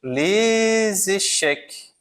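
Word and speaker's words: les échecs: Então aqui o S ele não é pronunciado no Lque. Perceba que acaba com CS, né? O S eu não pronuncio, mas pronuncio o c final da palavra echeque, tá?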